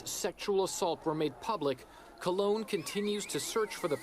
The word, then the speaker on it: Cologne: But basically, mass gang rapes, and apparently it is pronounced Cologne.